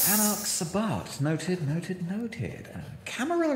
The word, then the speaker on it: Camarilla: Camarilla is spelt like gorilla, right? Yeah, double L.